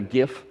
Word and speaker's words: GIF: to five frames in a gif or a jiff as the Americans say um and and I